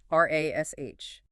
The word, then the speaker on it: rash: R-A-S-H. U.S.